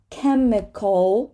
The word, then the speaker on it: chemical: Now, here we have the CH as a K again. Chemical, dark L, chemical.